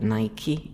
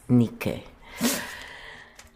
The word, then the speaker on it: Nike: Or as many people say it wrongly, Nike. It's Nike.